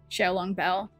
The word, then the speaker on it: Xiaolong Bao: Xiao, like Xiao, long, spelled like long, Bao, B-A-O.